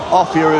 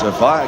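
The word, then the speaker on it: Offiah: they're going well well Martin offier or a fire offier is the correct pronunciation but he likes a fire cuz it rhymes with Chariot oh he's missed it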